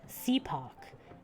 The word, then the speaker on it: CPOP: I sighed even louder they pronounce it seapoc it stands for citizens to protect our